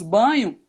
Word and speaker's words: Bagno: marcos banho né e a pronúncia correta é banho mesmo porque vem do italiano né marcos bagno vale ressaltar então o marcos banho que autor do livro